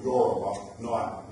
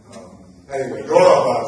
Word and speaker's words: Yoruba: That name is the name that we now know these people, Yoruba, Yoruba is how you pronounce it, not Yoruba, that's it.